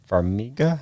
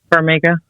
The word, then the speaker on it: Farmiga: It's, I think, Vera, how you pronounce her last name? Farmiga, I believe. Farmiga.